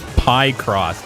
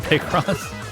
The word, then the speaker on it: Picross: Pie cross. Yeah, that's how you pronounce it, not Picross.